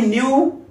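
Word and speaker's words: knew: गया था फिर सेंटेंसेस बनाते हैं में आई न्यू everything about you last year okay दोस्तों नोट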